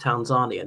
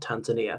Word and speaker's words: Tanzania: I I met Tanzania and said it's pronounced Tanzania, not Tanzania.